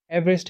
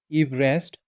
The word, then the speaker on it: Everest: Everest himself reportedly preferred the pronunciation of his surname to be closer to Everest rather than the commonly used Everest.